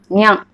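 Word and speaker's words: にゃ: Next one, ni plus ya, niya. When you put small ya, that sound will become nya.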